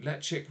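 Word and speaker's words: Ledaig: really enjoyed that whiskey let chick ryoka Cask is absolutely spell l-e-d-a-i-g yes it's spelled nothing like his hand yeah uh totally like it sounds um but yes uh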